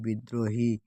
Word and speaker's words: বিদ্রোহী: রফলা যদি শব্দের মধ্যে ও অন্ত সংযুক্ত হয় তবে মূল বর্ণটি উচ্চারণ দিত হয় এবং র উচ্চারিত হয়, যেমন বিদ্রোহী, বিদ্রোহী।